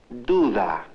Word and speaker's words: duda: Now notice that the initial D is pronounced da. The middle D is pronounced differently, like th. When the da sound occurs between vowels, it is pronounced th.